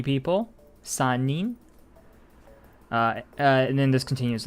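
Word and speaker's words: 三人: And then once we hit 3, sanin. Sanin. It's not sanri. Sanin. The 3 is only for hitori and futari. 1 person, 2 people, 3 people. Sanin.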